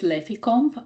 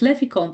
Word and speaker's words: Leficomp: So anyway, I pronounce the name of our company as Leficomp, and it actually comes from level 5 company. So LE from level, FI from 5, and then COMP from company.